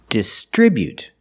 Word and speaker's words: distribute: at the verb distribute we put the stress on the second syllable distribute pronunciation the first syllable is the short I the sound like this is dis then we have the TR together the TR makes the ch sound like chicken plus the ER the